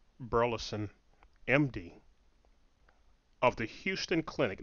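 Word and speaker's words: Hughston: Burleson, MD, of the Houston Clinic. Now, Houston is spelled H-U-G-H-S-T-O-N. Not Houston as in Houston, Texas. No.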